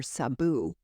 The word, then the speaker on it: Msabu: If you've seen Out of Africa, Her butler or her man that really ran things for her called her Sabu, and it's spelled Msabu.